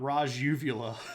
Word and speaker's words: Rajuvula: Not Raj Uvula. They wanted me to split that into Raj Uvula. Oh, Microsoft Word. No, this is one guy. His name is Raju Vula.